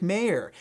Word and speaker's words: Mayer: 15 that senior quarterback Jake Mayer and by the way that is the correct pronunciation don't let the Montana